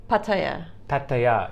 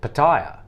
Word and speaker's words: Pattaya: pretty close i think how do you say it sumi pattaya yeah i think that's how the thai say it but a lot of uh westerners say pattaya but yeah pattaya yeah